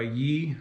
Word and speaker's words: Yi: So the main thing I noticed about this camera as compared to my old camera, which was made by Yi, which is spelled Y-I, a Chinese company you want to avoid at all costs.